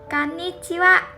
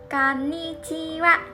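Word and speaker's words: こんにちは: Something interesting is that if you look at the hiragana, the last character is ha, but we pronounce it as wa. So let's practice together. Konnichiwa. Konnichiwa.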